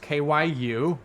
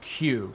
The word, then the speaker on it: Kyu: wrong it's not pronounced Kyu or caou it's actually Q so if you think of the letter Q that's how you say it I want to call